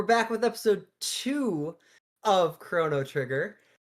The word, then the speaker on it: Chrono Trigger: We're back with episode two of Chrono Trigger. I said it right even and didn't say Kronos.